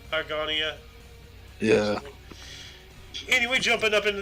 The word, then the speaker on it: Argonia: That's not how you pronounce it. Anyways, a city in Kansas elects Susanna M. Salter as the first female mayor in the United States. Nice. I bet a lot of people were salty about that. I think? Argonia, I think it's pronounced.